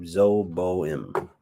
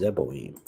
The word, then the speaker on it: Zeboim: And Shemeber, king of Zoboim. I guess that's how you say it. Let's see. Zoboim on the map. Zoboim. Zeboim. Oh, is it Zeboim? Yep, it was Zeboim.